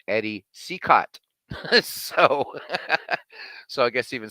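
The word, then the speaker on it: Eddie Cicotte: and and to the chat here it is pronounced Eddie cicott so so I guess even Smokey Joe got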